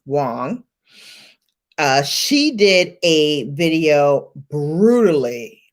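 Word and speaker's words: Wang: wong um pronoun uh spelled w-a-n-g but pronounced wong she did a video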